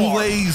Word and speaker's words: boulet: See where the, people boulets are coming from, okay? Which is a fancier way of saying bullet. Boulet. The T, yeah. The T is silent.